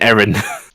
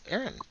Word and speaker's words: Aaron: It sounds like you're saying Erin. I mean, isn't it? I mean, My character. yeah. It's Aaron. Aaron. Yeah. Isn't it Aaron?